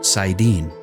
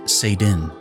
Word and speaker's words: Saidin: The male half of the true source is called Saidin, which is sometimes pronounced as Saidin.